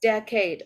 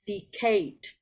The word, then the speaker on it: decade: know that there um I know that there are um two different ways to say this word oh you either can say decade and that's my habit but um you also can pronounce this word as the Kate so that's okay um